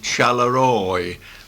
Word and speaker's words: Charleroi: It's actually spelled Charleroi, but the proper pronunciation is Charleroi.